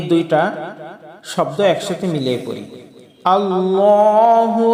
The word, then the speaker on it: আল্লাহ: আল্লাহু আমরা বলবো না আল্লাহু আমরা বলবো আল্লাহ যখনই আল্লাহ নামটা পাঠ করব তখনই আমরা কুর বা মোটা করে বলবো আল্লাহ এবং লামের উপরে